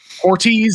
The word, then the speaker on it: Hortiz: landed their GM in Joe hortes is that how you say it Rams director player pornel apologies Joe if I'm butchering your name therez hortiz there we go uh on the Patriots